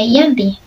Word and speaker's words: Giyanti: Nama Giyanti sendiri diambil dari lokasi penandatanganan perjanjian, yakni di Desa Janti. Dalam pelafalan Belanda, ia tersebut sebagai Yanti.